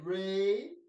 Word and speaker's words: re: Okay, re. It's spelled R-E because an Italian guy came up with this. And so in Italian, the E sounds like A.